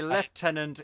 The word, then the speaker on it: lieutenant: ways of pronouncing Lieutenant you know Lieutenant is the American way leftenant is the English way even though there is no F in the word so I don't know